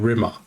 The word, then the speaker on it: Rimmer: He's like, the way she says my name, Rimmer, to rhyme with scum.